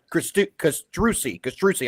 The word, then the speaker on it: Castrucci: And Castrucci. Castrucci. I said it right that time.